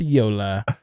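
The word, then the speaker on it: JOOLA: It's a paddle pronounced Yola.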